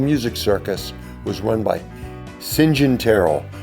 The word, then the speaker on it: St John: Circus was run by singen Terell which is spelled St John like St St John and that became his name singen s i n j